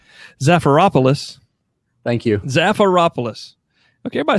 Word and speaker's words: Zafiropoulos: Zafiropoulos.